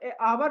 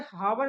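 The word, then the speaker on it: hour: बनना है देखो जो आवर रहता है बच्चों इसको पढ़ा जाता है हावर नहीं पढ़ते इसको आवर पढ़ते हैं इसमें जो एच रहता हैय हमारा साइलेंट रहता है इसलिए इसके पहले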